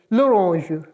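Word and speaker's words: l'orange: और एपॉस्टोफी है और इसके साथ ऑरेंज है लुरज लुरज लुरश द ऑरेंज तो ये आप देख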